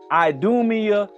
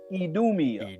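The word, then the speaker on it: Idumea: Idumia, Edom, they just use we we use the strong I. But in Europe that I is used with the E sound, the strong E sound. It actually pronounced edomia.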